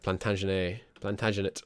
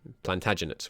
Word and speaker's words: Plantagenet: Looks like the line of Plantagenet line. Sorry, I pronounce it like it's French. Maybe it is a French line originally, but Plantagenet would be the English way of pronouncing it.